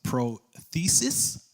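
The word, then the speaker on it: πρόθεσις: Purpose in the Greek is pronounced prothesis. I believe I said that right.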